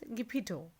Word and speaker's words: Geppetto: Some people read it Geppetto. That is not incorrect. So the proper pronunciation of this name is Geppetto.